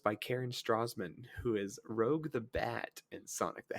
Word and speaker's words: Rouge: Is it pronounced Rouge? I'm pretty sure. I'm pretty sure it's supposed to be French. Like Rouge.